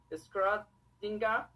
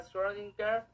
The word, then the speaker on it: Schrödinger: si lo pronunciaría correctamente, Schrödinger en alemán, pero en inglés sería Schrödinger, o bueno, también terminaría en A si lo vemos americanamente.